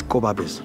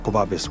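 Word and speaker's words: Gobabis: with place when you put them together it's kobabes that's a right original pronunciation of the of the of the world itself kobabes where the town was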